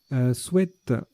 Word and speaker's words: sweat: Sweat, tiens, qu'on peut prononcer sweet maintenant, c'est nouveau. On a toujours dit c'est sweat, sweat, sweat. Et ben donc on peut dire sweet, voilà, maintenant.